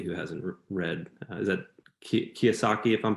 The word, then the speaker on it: Kiyosaki: Is that Kiyosaki, if I'm pronouncing it correctly?